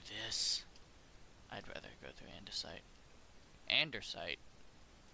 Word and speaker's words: andesite: he would pronounce it so andersite even though it's andesite it's gonna be andersite and I think that